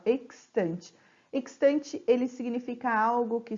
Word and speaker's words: extante: Então, eu pronuncio o X e o S, ó, extante.